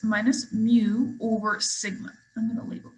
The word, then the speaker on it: mu: mu is the population mean we speak it mu it's kind of like what pat says but it's spelled mu and so that is uh if